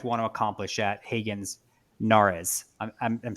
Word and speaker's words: Nares: to accomplish at Hagen Nares? I'm saying it wrong. Kaitlin, I'm saying it wrong. Is it Nares? Am I saying it right? Nares? Yeah, Nares right or Nares? You got it right on.